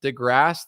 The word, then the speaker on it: DeGrasse: okay I'll let your Neil Degrassi Tyson I'll let you talk crazy crazy stuff the grass the E isn't pronounced well e is a